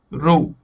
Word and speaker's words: rho: anymore this is okay the way to to to pronounce it is rule this is p pressure but p for density being known as the name of row okay so i'll put